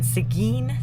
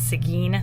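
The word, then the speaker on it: Seguin: Winery and that's in sigin Texas um we were saying it wrong but it's sigen Texas and it's Windmill Farm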